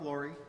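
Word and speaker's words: Laurrie: here we go ready my name is laurie m-a-r-k-l-a-u-r-r-i-e superintendent of schools niagara falls city school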